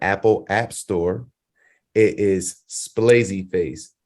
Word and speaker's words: Splazzy Face: app store it is splazy face just like how it's spelled here s p l